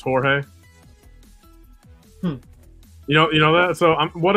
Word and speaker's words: Jorge: Like Jorge is spelled with a J, but it's Jorge.